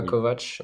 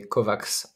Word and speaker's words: Kovacs: Alors Christophe, juste c'est pas Kovac, mais c'est Kovacs, parce que voilà, RMC l'a prononcé comme ça pendant tout le match.